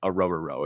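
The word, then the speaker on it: Orhorhoro: Ruke, I think it's Ruke a rubber row. That's how you pronounce it, a rubber row.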